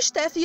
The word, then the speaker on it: Stephanie: é o nome é Stephanie no caso a pronúncia é Stephanie Eu gostaria que o steffee tivesse dito a